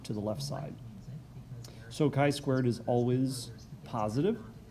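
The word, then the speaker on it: chi-squared: has a funny name it looks like x squared but that's not how you're gonna pronounce it it's actually pronounced as chi squared if you look it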